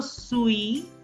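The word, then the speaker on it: suis: clear yes so sure sui the last s is silent s-u-i-s sui josue professor professor don't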